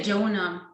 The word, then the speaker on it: Joona: We say Joona. Joona. It's the same name. As in the Bible.